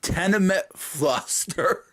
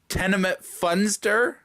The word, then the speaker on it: Tenement Funster: up I can't believe he said tenement fluster when it is actually tenement funster I can't be a